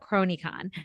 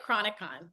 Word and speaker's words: Chronicon: So I want to talk about Cronycon. So is am I saying it right? Oh, it's like Chronicon.